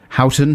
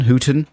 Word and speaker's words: Houghton: got a message here yeah from uh Ross Houghton Hooten in London uh h-o-u-g-h-t-o-n Houghton Houghton yeah I'm not very good on